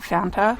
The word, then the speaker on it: Fanta: 18 years old and I called it Fonte and I still did you know when I hear them know when I hear the words Banta it sounds like they're saying it wrong and I get made fun of all the time and I'd have to remember to say Fanta and not fantasist and